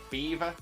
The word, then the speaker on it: Belvoir: There's a castle in Leicester, which is known as Beaver Castle. Beaver Castle, like the animal beaver, but it's not spelt like the animal beaver, nor is it spelt like you would imagine the word beaver to be spelt.